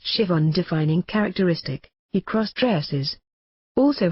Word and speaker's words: Siobhan: Siobhan, pronounced Siobhan.